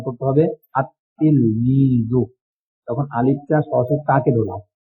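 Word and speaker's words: التلميذ: বরং তখন সেখানে উচ্চারণ করতে হবে আতলমিদু তখন আলিফটা সরাসরি কাকে ধরলাম লামটা বা আতলমিদু এ দেখেন আতলমিদু লাম ছাড়া উত্তর হয় আত ইলমি এখানে লামটা লেখা আসলে উচ্চারণ হবে না।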